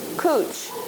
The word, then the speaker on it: couch: it this is called it's from the French it means it's cooch and it's spelled c-o-u-c-h what does that spell see what else does it spell and that we say in English couch and what this couch